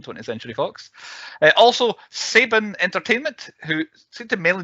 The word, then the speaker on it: Saban: have done from 20th century fox uh also saban entertainment who seemed to mainly do like 90s children's uh tv shows and movies and all that a lot of straight tv it was pronounced saban was it saban isn't it okay i was